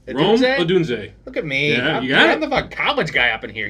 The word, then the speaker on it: Odunze: uh number three Rome adun said it right adun look at me I'm the